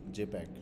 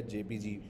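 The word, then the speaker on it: JPEG: When ever you have many different colours in a picture you should use जेपैक या जेपीजी या जेपीईजी. ठीक है, इसको जेपैक भी बोल सकते हैं, तीनों प्रोनाउंसिएशन इसकी मिलती है देखने में.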